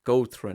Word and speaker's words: Gótrin: My pronunciation, Gótrin. Gótrin.